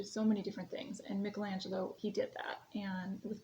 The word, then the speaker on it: Michelangelo: you hear it pronounced Michelangelo it is um if we're sticking to the Italian pronunciation it would be Michelangelo his last name was